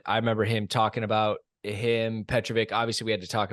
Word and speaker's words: Petrović: So yeah, it's Đorđe Petrović, I believe. I think it's an itch at the end.